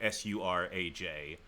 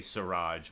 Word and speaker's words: Suraj: I say Suraj because it's spelled S-U-R-A-J, so I say Suraj, but I think it's pronounced Suraj.